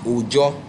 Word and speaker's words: Oyo: So, but they pronounce the Y as J, and they still keep so many of the words. So the name of God, which is Oyo, they still keep it, but as Ojo.